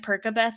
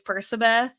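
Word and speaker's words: Percabeth: Um, though I will say I'm one of those embarrassing people that was like pronouncing it Perkabeth in my head, even though I know logically it's Persabeth.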